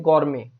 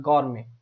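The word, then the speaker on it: gourmet: एक है गौरमे, टी इसमें लगभग साइलेंट जैसा ही होता है, गौरमे, गौरमे ऐसे बोलते हैं, ठीक है।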